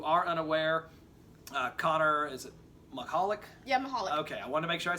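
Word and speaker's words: Michalek: For those of you who are unaware, Connor, is it Mahalik?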